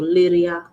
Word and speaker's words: Liria: o lungo komgini jo liria. Let me know if I'm mispronouncing this name. Is it Liria? Liria.